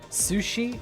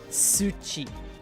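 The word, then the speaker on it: 土: Sushi? No. Tsuchi. T-S-U-C-H-I. Tsuchi. It's not sushi. Sushi is, and it's not even pronounced sushi, it's sushi. Sushi is the fish dish. And tsuchi is earth.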